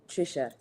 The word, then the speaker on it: Treesha: So, I would say Trisha. Trisha. Okay. Yeah. From because